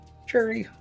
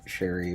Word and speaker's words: Cherry: Cherry, how are you? And yes, I do know it's pronounced cherry. I just like saying it as Sherry because it's more fun to say.